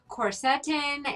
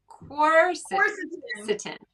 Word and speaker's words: quercetin: This one has quercetin, and that's an antioxidant powerhouse.